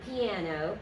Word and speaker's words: piano: understand about diphthongs, and they will say it as a three-syllable word, just like in English. Piano. Okay, that gives them away that that it isn't their native language. So, piano, two syllables.